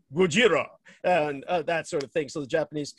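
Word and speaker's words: Gojira: actually pronounce the name in the japanese language we call him gujirah and that sort of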